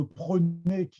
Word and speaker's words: prenez: Donc là, le E de prenez, le E muet qui est disparu, ne prenez pas le